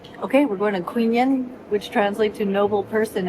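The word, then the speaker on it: Quy Nhơn: Q U Y N H O H or N. U N H A Queen. It's like queen. Okay, we're going to queen yen, which translate to noble person in English.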